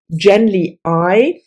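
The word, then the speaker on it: Genly Ai: we followed two main characters the one is gently I that's how I pronounce it and Estroven again the I is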